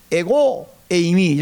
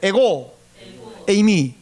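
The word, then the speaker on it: ἐγώ εἰμι: 헬라어로 내니 이게 어떠냐면 에고 에이미, 헬라어 못 알아보는 것이지만 제가 발음 알려드릴게요. 따라하세요. 에고 에이미.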